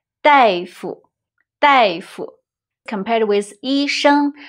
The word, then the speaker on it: 大夫: the character is 大。But in this word, it's pronounced 代, 大夫, 大夫. Compared with 医生, 大夫 is a little more casual, colloquial.